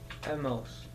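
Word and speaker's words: hemos: good so we have Emos Emos good how do you spell a h a h e h e good and that H comes from Abel that silent h that you have there good so how would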